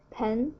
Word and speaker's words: 盆: Alright, next one, 盆, pen, second tone. It means basin. So the upper part is pronounced as 分, 分.